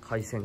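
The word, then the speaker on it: 回船: 回線じゃなくて回す船って書いて回線って読むみたいなんすけど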